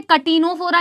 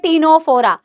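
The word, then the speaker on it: Ctenophora: Phylum क्या है ma'am टीनोफोरा कोई भी इसे कैटिनोफोरा नहीं बोलेगा this is नॉट कैटिनोफोरा this is अ टीनोफोरा सी is again silent.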